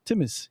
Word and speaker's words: Timis: His name is David Timis.